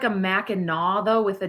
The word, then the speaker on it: Mackinac: Mackinac. Yeah. I never thought about that. I don't know. Don't you also have like a Mackinac though with a W?